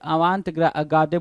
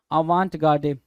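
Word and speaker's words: avant-garde: क्षेत्र में अग्रगामी है भाई ये आवां गाडे बोलेंगे इनको क्या आ वांट गाडे आ वांट गाडे दो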